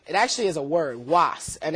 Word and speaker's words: UAS: means great power okay so it's uh properly pronounced it's was um but lots of people know us lots